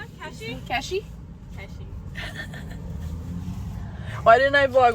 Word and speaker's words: Keshi: Keshi.